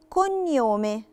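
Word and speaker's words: cognome: عندي اول كلمة اسمها كونيومي، كونيومي انا شلت خالص نطق لا لترة جي وحطيت مكانها ني، ساوند ني.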